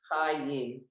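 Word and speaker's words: חיים: Chayim.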